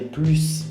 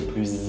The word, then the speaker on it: plus: En général, on ne prononce pas le S quand il y a un adjectif après.